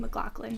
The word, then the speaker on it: McLaughlin: landlord in college and his last name was Mclofflin. Yeah, there's two different say like ways people say it, but our family always went with the G L O C K version. Macklin. Pronounce it out.